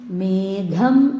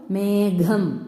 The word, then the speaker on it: മേഘം: അതായത് ഖ നഖം അതേസമയം മേഘം എന്ന് പറയുമ്പോൾ ഗയുടെ മൃദുവിന്റെ കൂടെയാണ് ഹ വരുന്നത് അപ്പൊ നമ്മൾ ഗ എന്ന മൃദുവിനാണ് പ്രാധാന്യം കൊടുക്കേണ്ടത് അതിന്റെ കൂടെയാണ് ഹ ചേർക്കുന്നത് അപ്പൊ മേഘം ഗം എന്ന് പറയുമ്പോൾ ഒരു